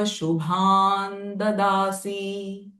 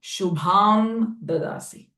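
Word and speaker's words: शुभं ददासि: Here, shubham, there is anuswara. Shubham, ma sound of anuswara will change. Why? Because the next syllable is the. And whenever it is the, this ma sound of anuswara will change it to na. Shubhan dadasi, not shubham dadasi.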